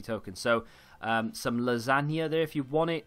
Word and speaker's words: Lasagna: Feels stupid calling him lasagna, but that's how you say his name.